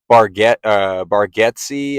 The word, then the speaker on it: Bargatze: And if you know who Nate Bargatze, I think is how you say his name,